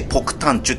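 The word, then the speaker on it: 폭탄주: 、日本語で爆弾の酒って書いてポクタンチュって読むのね。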